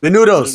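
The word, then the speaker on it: Menounos: Menudos, There you go, Menudos, yeah, Menudos.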